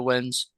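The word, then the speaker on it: Nguyen: It's a very well known and used name in Vietnam, and Yeah, I this actually is know people who are the Wins.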